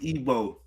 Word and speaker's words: Igbo: Yeah, and remember, you pronounce it Igbo.